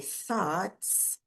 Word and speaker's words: thoughts: Thoughts, então você pronuncia o th com aquele arzinho passando entre a língua e os dentes e aí nesse caso a língua chega a ficar entre os dentes, ela não fica atrás dos dentes, senão você vai pronunciar o som de t, né? Então quando você ultrapassa um pouquinho a língua, não precisa muito, ultrapassa um pouquinho, chegou entre os dentes, você solta um arzinho sem voz, então é esse sonzinho.